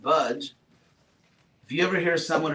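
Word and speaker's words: भज्: But actually, the real root is bhaj, which is pronounced exactly like the English word budge, like don't budge, just stay there.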